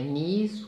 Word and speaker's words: knees: Knees, a palavra tem um K, mas a pronúncia é só o N.